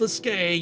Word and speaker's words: Sliske: It's pronounced Sliske, yet I refuse to do that because it makes him sound stupid.